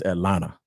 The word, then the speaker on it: Atlanta: Anyway, and it's, by the way, for the Chicagoans out there that y'all don't pronounce y'all R's, we don't pronounce the T in Atlanta. It's Atlanta.